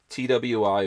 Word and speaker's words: Twi: It's called Twi. TWI.